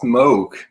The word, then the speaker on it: Moog: Actually, it's pronounced Moog.